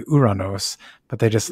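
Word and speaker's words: Ouranos: clean Mark I'm sorry I'm just gonna say uranos from now on because that's the Greek pronunciation uh we actually had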